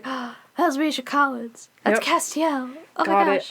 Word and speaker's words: Castiel: So Castiel? Castiel! Oh, Castiel. Oh, so I was saying it wrong. My bad. Yikes. Castiel.